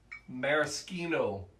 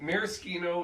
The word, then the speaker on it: maraschino: don't care the song and maraschino is typically the italian pronunciation there she knows what